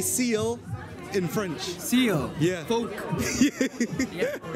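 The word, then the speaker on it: phoque: Folk. Yeah. Folk.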